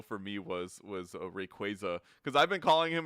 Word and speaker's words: Rayquaza: know it makes sense sounds wrong it sounds wrong but it makes sense because it's supposed to be quasar like rayquaza yeah that's why but